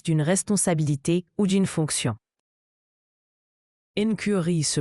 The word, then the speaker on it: incurie: Incurie se prononce incurie.